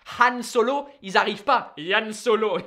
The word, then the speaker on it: Han Solo: Yann Solo. That is still what he's called. That, I mean, that's just hilarious. Because they can't pronounce the H. French people can't do the H. Han Solo, ils arrivent pas.